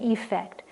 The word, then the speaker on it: effect: effect on his audience i'm exaggerating the pronunciation of affect and effect so you hear the difference lack of affect is